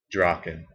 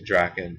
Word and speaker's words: Draken: And that's how I pronounce it, which I think it can be pronounced Draken too, and put more emphasis on the A. But I sort of came up with that name because I thought it sounded a lot like if you say it right, it sounds like you're saying dragon, and that was kind